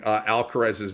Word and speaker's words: Alcaraz: Okay, so I was Americanizing Alcaraz's name, right? I watch a little bit of tennis. I know the kid's a badass, but Alcaraz. Okay, stand corrected.